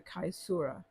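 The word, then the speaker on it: caesura: a strong pause or chura in the middle of the line the chura now some of you depending on how you pronounce your Italian your Latin might pronounce it the kisura usually comes after the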